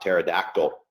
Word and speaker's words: pterodactyl: uh what you know the p is silent yes yes that's